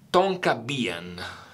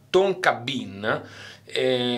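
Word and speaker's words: tonka bean: Ambra e no spettacolo tonka bien che si legge tonki tonkahton la faccio una figura di merda traduttore bien si legge Bin quindi Fava Tonga tonka Bin quando per esempio io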